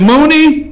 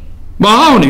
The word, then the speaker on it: Mahoney: John, is it Mooney? Is that his name? Could somebody pay attention? I got a picture of it. Is that how you pronounce his name? Put his picture up. Mahoney, right?